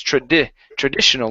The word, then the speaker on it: traditional: okay very good uh next up is traditional short I here instead of tradi traditional it's Trad traditional landline traditional landline okay very